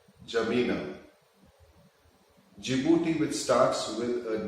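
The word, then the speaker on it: N'Djamena: Go to Chad, which is N, D is silent, Jamina.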